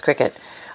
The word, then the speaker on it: Cricut: a cry Cricket thing I know it's not Cricut it's Cricket um but I always say it wrong um here's some peddly